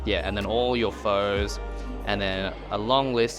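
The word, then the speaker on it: phở: So, there's the proper way of saying pho, and there's how everyone else kind of says it, which is just pho, as it is spelt. I like saying pho because it kind of annoys a lot of people, but if you want to say it the right way, it's pho. So think of F-U-R, but with the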